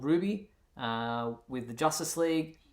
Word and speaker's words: RWBY: now if you wondering who Ruby is it's weird because I didn't had to look it up to see how you pronounce it but um it's RWBY Y is turn that